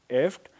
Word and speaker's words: IFTTT: is essentially pronounced if it's IFTTT and it's essentially pronounced as eft let's let me take